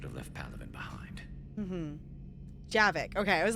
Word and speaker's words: Javik: Okay, I was like, I knew, for some reason, my brain remembered, I'm like, I know it's 2 syllables, but that didn't, it's like, brain, can we retain the name? Please? Javik.